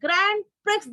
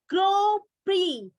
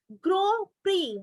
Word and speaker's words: Grand Prix: i say to you this is not the grand prix this is the pronunciation of this word is grow pre grow pre right this is the formula racing car the